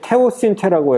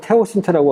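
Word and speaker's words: teosinte: 있는데 이제 요게 이제 테오신테라고 해서 이게 원래 이게 발음이 스페인어인데 영어 발음으로 써갖고 어떤 사람은 테오신테라고 하고 어떤 사람은 티오신테라고 하고 그 발음 제각각입니다.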